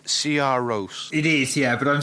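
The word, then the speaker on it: Sigur Rós: and so following that would be uh cigaros CR Roose that's how it's pronounced CR Roose it is yeah but I'm still going to say cigar Ross just cuz you know we're we're English Tom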